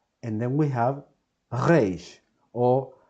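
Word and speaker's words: ריש: Don't worry if you cannot pronounce it like Israelis. In fact, nobody cares, okay? But the important thing is that you're pronouncing Reish or a Reish or a Reish and not any other sound, okay?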